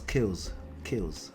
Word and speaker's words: K!LLZ: Okay, so the alter ego is really it's not chaos, kills. Yeah, you have to use American accent to pronounce it.